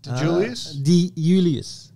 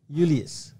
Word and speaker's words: Iuliis: How do you say it? Julius? iuliis. Yeah. I was trying to say Iuliis.